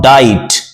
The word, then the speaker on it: diet: This is not diet, it's diet. As you say, be quiet. So quiet, diet, these are the exact pronunciation of these words.